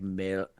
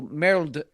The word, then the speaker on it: merde: is spelled merde, and it's pronounced something like merde. Merde. Yeah. With an L. There's an L in there, even though there isn't an L in there, but merde.